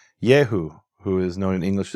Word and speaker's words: Yehu: So Yehu is short for Yehohu. And what happens there is we have a linguistic phenomenon called dissimilation. When you have a certain sequence of sounds, O-U, it breaks apart and becomes Eu. So the shortened form of